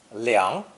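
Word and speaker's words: 凉: with a sound change it's pronounced second tone liang how can etymologists say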